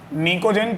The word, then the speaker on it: निकोजेन: निकोजेन P silent रहता है बिल्कुल तुम लोग की तरह, ठीक है।